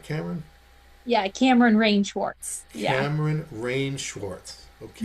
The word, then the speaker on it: Kameryn Rae Schwarz: Am I pronouncing that right, Kameryn? Yeah, Kameryn Rae Schwarz.